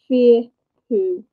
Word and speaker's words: Fehu: I am Fehu. And it is pronounced Fehu.